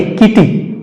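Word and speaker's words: kitty: single में उच्चारण करेंगे देखते हैं कैसे के आई डबल टी वाई यहां पर टी दो बार आया है t की आवृत्ति दो बार हुई है लेकिन इसे जो है सही उच्चारण में हम पढ़ेंगे किटी डबल ना कहके हम क्या कहेंगे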